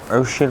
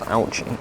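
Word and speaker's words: Ouchy: Thing that I need to do is head to Oshi Lake. A lake, but it's pronounced Ouchie.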